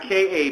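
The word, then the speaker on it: KÀ: Let's start with Ka. It's not K-A. People pronounce it K-A.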